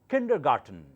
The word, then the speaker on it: kindergarten: the spelling it's a German word it's called Kindergarten not kindergarten kindergarten so I'm finished with the